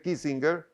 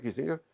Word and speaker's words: Kissinger: guerra del vietnam de henry kissinger yo lo pronunció a la alemana porque en realidad el de origen alemán lo henry kissinger que en su último